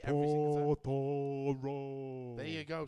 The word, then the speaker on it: Totoro: The show I went to see with him the following day was My Neighbor Totoro. Well, you fucking pronounce that right. Totoro?